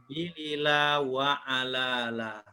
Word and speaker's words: Bilila wa Alala: pertama kertas ajaib, yaitu Bilila wa Alala. Siapa namanya, Bapak Ibu? Bilila wa Alala. Jadi bacanya nyebutnya Bi pendek, Li pendek, La pendek, Wa pendek, Ala panjang, La juga panjang.